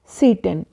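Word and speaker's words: Tsetan: पढ़ेंगे सीटे सीटे इसको टी से शुरू नहीं होगा क्योंकि इंग्लिश में टी और एस जैसी साउंड स्टार्टिंग में नहीं है यानी इनिशियल लेवल पर टी और एस साउंड ना होने के कारण टी साइलेंट है इसको प्रोनाउंस करेंगे सीटन अ लोकल टिब वो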